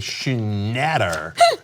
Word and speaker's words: Schnatter: a conference call John Schnatter major I like a shoe matter that is how his name should be pronounced this sucks so much